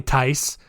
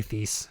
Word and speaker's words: Thies: It's probably Tice, but I'm going to say Thies because just the thought that maybe there's one of you out there that like, it's Tice! It's Tice! I'm going to keep saying it wrong just to annoy you.